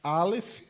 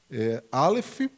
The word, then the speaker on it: Aleph: Então, ela é composta pela letra Aleph, tá? Que é uma letra muda, como o nosso H no português, né?